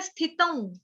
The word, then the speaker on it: स्थितं: स्थितम, स्थित, स्थित बोलना आता है, त के ऊपर जो अनुस्वार है उसका उच्चारण होगा आधा व ऊपर चंद्र बिंदु।